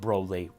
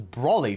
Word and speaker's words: Broly: time we even got the proper pronunciation that broadly I thought it was Brawley for the longest time then I heard Chris